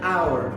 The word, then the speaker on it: hour: that the word makes we have here an hour even though it starts with an h that is a consonant we write n because the h is